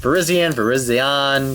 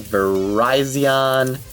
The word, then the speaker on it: Virizion: This is when I always forget the pronunciation, but it's Virizion, Virizion. It's the cell phone carrier of Pokemon, I guess. I don't know. Because it's very close to Verizon.